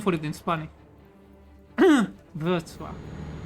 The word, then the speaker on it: Wrocław: Rocklaw. I think it's called Breslau, actually. Breslau. That's way easier. And I don't think we have a name for it in Spanish. Wrocław.